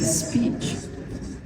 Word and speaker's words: speech: When these three voiceless stop consonant sound come after s, then they will be unaspirated. They won't be aspirated. Like for example, speech. Now look at this. This is a p sound, and it is after s. You know, so it should be pronounced. It should be realized like speech.